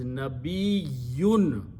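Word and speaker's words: نبي: Actually, the ya has two, last letter has two yas in it. So the full word is nabiyun. Two, we have to pronounce twice the ya letter, this la ya. We just say nabi, but in Arabic, it is nabiyun. So ya is being pronounced twice.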